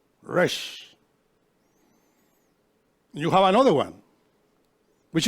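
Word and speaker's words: ר: The other is Resh. Resh. You see? Resh. You put your teeth together and you roll your tongue. Resh is the letter R. Resh.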